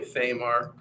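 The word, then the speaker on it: Θαμάρ: That's Theta. So the Greeks had the th sound. A lot of languages don't have that sound. So it's really Thamar, as the Greeks would pronounce it.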